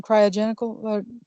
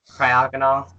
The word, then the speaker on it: Cryogonal: Cryogenical. Cryogonal.